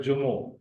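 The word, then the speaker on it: جمعو: लिहाज से वो है जुमो यानी जुमा। उर्दू में लिखा जाता है उसको जुमा, सिंधी में जुमओ, जीन पर पेश, मीम साइलेंट, एन और वाव आपस में कनेक्टेड हैं इस जबर के साथ।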